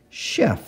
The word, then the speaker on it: chef: word like the word Chef a type of cook so our CH to give us the sh sound and then e f chef the next word is